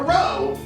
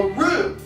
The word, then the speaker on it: roux: No, not a row, a roux.